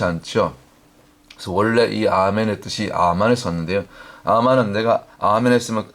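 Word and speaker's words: אמן: 말씀처럼 고린도서 있는 말씀처럼 원래 아멘이 히브리 원문의 발음은 아멘이 아니고 물론 아멘이 맞는데 원래 출발은 아만이 아만 원래 그 원조 아멘의 발음이 히브리어으로는 아만이 맞습니다 아만 그래서 우리가 보통 아멘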